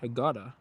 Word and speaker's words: Hurghada: Hurghada, if I'm pronouncing that correctly. Hurghada.